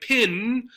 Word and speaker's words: pen: P-E-N. But often in Ohio it sounds like pin, like this thing.